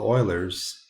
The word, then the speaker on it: Euler: guy right here and i don't know if you know how to pronounce that but that sounds like so euler is the guy that figured it out you guys are all oilers so you have math